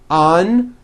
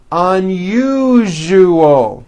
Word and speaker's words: unusual: Okay, now try unusual. Un-u-ju-o. Unusual. Like that.